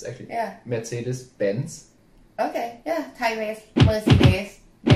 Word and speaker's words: Mercedes-Benz: okay so the first one or easy I'm Mercy dance pants wow okay yeah that wasn't too bad it's actually yeah Mercedes-Benz okay yeah Tigers yeah close enough let's